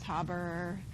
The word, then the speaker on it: Haber: bit the upper process heard it pronounced both ways haber haber process okay so we'll see